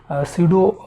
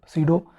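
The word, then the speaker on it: pseudo: इफ़ the doping substance is different from that of substrate then this type will be called सीडो, या सीडो भी इसे पढ़ते हैं, असल में सीडो है, पी साइलेंट, सीडो होमो एपिटैक्सी।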